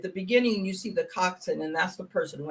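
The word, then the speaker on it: coxswain: rowers and now it's it's how do you pronounce it it's Cox coxin coxin okay so it's a rope a robe a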